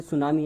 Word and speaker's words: tsunami: जैसे सुनामी है, TSUNAMI उसकी स्पेलिंग होती है, लेकिन उसमें टी साइलेंट होता है।